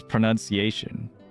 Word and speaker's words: pronunciation: It's pronunciation. What? Pronuniation. Uh, think you need to check your dictionary again, buddy. Right. Who's with me on this? You can pronounce something, but it's pronunciation.